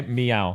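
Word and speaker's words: Miyao: can you spell that it's m-i-y-a-o okay meow like meow okay yeah yeah yeah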